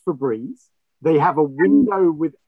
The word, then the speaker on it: Febreze: is the right answer so what about the fabriz it's breeze it's pronounced febreze they have a window with breeze coming through